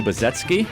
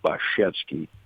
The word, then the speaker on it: Baczewski: That's the way we pronounce it, so I think it's acceptable locally, but actually in Poland it's pronounced Baczewski, so we kind of say our own name wrong in the sense of the Polish pronunciation.